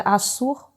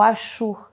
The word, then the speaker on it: Assur: verdade com a cidade-estado chamada assur ou ashur dependendo da pronúncia e daí que vem